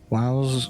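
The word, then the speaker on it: Wau: Wow's freaky fish. So that's a W-A-U. They pronounce it wow in this game.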